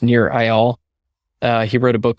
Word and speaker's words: Nir Eyal: I believe his name is pronounced Nir Eyal.